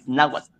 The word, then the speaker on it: náhuatl: México es el náhuatl náhuatl así con TL al final náhuatl suena sus palabras son difíciles